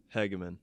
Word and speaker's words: Hagaman: hear it straight from the horse's mouth Hegman there you go I know you as hags